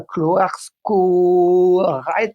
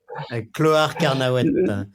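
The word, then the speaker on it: Clohars-Carnoët: est chez lui à Cloarsko-Rait. Je me souviens plus, tu vas me dire. Salut, Carnauet. Carnauet. Salut, ça s'appelle Cloar Carnauet. Cloar Carnauet, j'ai du mal à prononcer.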